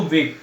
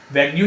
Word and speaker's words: vague: बच्चों इसके अंदर जो यू और ई होता है ना वेग में, वो साइलेंट होता है, तो क्या बोलते हैं इसको? वेग। वैग्यू नहीं बोलते, वेग, जो कि अस्पष्ट तरीके से बोलते हैं।